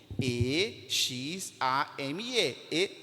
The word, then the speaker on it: exame: que vocês possam fixar note a palavra exame quantas letras tem 5 e x a m e exame não é verdade e tem quantos fonemas cinco fonemas e z a m e todas estas letras representam fonema porque quando eu produzi exame eu consigo pronunciar todos estes sons dessas letras mas se eu pego a